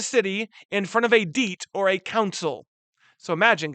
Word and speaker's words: Diet: I know it says diet, but it would have been pronounced Diet.